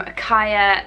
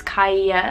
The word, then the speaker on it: Kaiia: I was recently sent these ones from Kaiia Lashes. I think that is how you say it, or unless it's Kaiia, spelled like K-A-I-I-A.